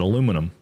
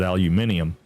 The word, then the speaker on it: aluminium: So, we call it aluminum. And you know, most of the rest of the world calls it aluminium.